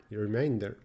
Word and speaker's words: remainder: Remainder.